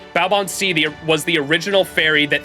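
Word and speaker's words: Baobhan Sith: sorry, I should say Balbon is how you pronounce it, right? Balbon was the original fairy that thanked Ash the Savior.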